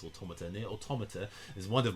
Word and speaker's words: Automata: It's not Automata, it's Automata.